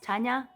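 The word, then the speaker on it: Tanja: And that is because I'm from Croatia, so my name is pronounced Tanya, and it's spelled with a J, T-A-N-J-A.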